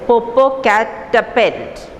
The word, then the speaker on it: Popocatepetl: So she is coming and telling the boy, I know how to pronounce it. It is Popocatepetl. Popocatepetl, said George, stopping at each syllable, stopping at each words, each letter.